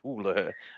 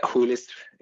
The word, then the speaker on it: Hoel: Hoel, I think isn't that how you pronounce it? Hoel. Yeah, Hoel is right.